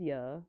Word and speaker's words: Yue: So this is Ya or you. It's spelled Big like hiccups. Oh, I cannot YUE. speak. But it's I'm technically so quick. when you pronounce her name, it sounds like "yeah," which I It think is sounds like really funny.